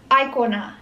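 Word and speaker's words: aikona: does it mean yeah you actually pronounce it as icona hey that's what i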